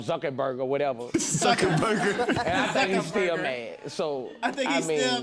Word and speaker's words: Zuckerberg: I said the main name wrong, Zuckerberg or whatever. Zuckerberg.